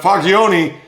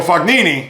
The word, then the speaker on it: Fognini: But Fagioni, or did I pronounce that right? Oh, Fognini. I said Fagioni, so my apologies.